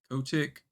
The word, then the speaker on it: Kotick: I haven't been like tuned into this shit, but that Bobby guy, Bobby Kotick, I think you say it.